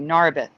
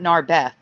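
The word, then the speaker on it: Narberth: nice little rewind on narith that's how it's pronounced for me narth not narbeth narth Pennsylvania that is crazy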